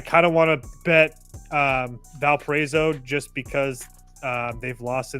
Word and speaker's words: Valparaiso: I will say that I kind of want to bet Valparaiso just because they've lost to this team now twice already this year.